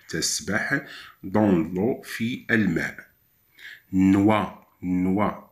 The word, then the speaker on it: noix: Noix, noix, X à la fin ne se prononce pas.